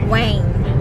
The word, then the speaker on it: Nguyen: surnames nila kasi yung yung nguyen na spelling n g u y e n it is pronounced as Weng weng ganon tapos parang